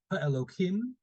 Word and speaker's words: Elokim: Yeah, just to discuss this verse, Elokim, I'm pronouncing it with the K sound here because it's a name of God, right?